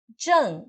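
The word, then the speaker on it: 站: Zhang representa estação, parada, paragem.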